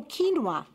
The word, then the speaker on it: quinoa: spelling it correctly but uh q-u-i-n a oh quinoa yeah quinoa I heard about that is that